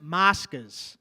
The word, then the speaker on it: moscas: Moscas. Moscas. Moscas. Check it out, bro. Can you spell it to me?